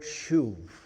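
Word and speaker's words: שוב: here is the word shuv. Okay? If you had to spell it out, it would be S-H-U-B. Because sometimes in Hebrew, the B and the V is the same letter or the same sound.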